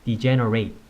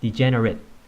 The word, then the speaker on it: degenerate: 로 도 활용이 되는데요 동사 로 사용될 때는 이젠 어웨이 이 되겠습니다 명사 또는 형용사로 사용될 때는 이젠 웬 이 두 단어의 그 발음이 다르다는거 알아 2시구요 동사를 달 사용될